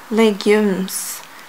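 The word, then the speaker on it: légumes: of my legumes yeah that's how we say it in French legumes the the Goons we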